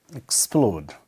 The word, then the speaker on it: explode: x load upload so so is X plode so stress lies here in the second also start with this so we call it explode two syllables and still Slice on the second two splint then 6